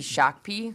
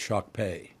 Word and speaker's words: Shakopee: by the way Shakopee you think it should be shock P it's shock pay shock pay is how